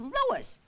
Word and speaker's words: Louis: Me name is Louis, not Lois. Gee whiz, everybody interpolates me name wrong. It's Louis.